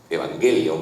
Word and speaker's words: Evangelion: está hecho, o sea, Evangelion tiene evangelion porque lo pronuncian en griego, en japonés lo pronuncian en griego. Evangelion, así como como Tadeo lo est lo estaba pronunciando, que es la pronunciación griega, ¿no?